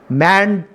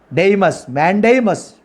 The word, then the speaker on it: mandamus: That is the meaning of the mandamus. Mandamus. Mandamus is the correct pronunciation.